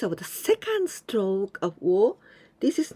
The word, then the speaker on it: を: So the pronunciation of this letter, when we just look at this one, we say wo. But in the sentence, when there's this one, we pronounce like this. O.